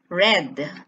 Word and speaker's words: read: read okay here are the principal parts of the verb read present tense read past tense red and past participle red so you can see that even if there's no change in spelling the pronunciation of the past and past participle of this verb changes it becomes red there so this verb is